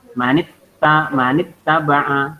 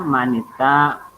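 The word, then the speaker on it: مَنِ اتَّبَعَ: Kemudian manit taba'a, tidak dibaca manita atau manis, tidak ya, dibacanya pendek.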